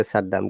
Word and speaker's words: Saddam: Saddam. A native will never say Saddam; they'll say Saddam.